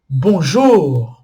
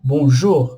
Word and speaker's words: bonjour: sílaba é a tônica bonjour bonjour a última sílaba é a tônica cujo tá ju e